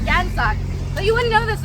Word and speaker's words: Gansak: But so the name like Gansak is spelled with a K in English, but it's not Kansak, it's Gansak.